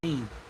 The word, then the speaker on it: Helene: Helene, is how you say Helene.